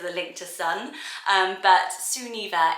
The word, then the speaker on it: Sunniva: So I wonder if I prefer Sunniva because of the link to sun, but Sunniva is the traditional pronunciation, and it means sun gift, which is absolutely gorgeous as a meaning.